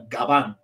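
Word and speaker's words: Gavan: but it's actually a Gabon um g-a-v-a-n but you know the v in Spanish is pronounced like a b it's a labial so um and garbanjo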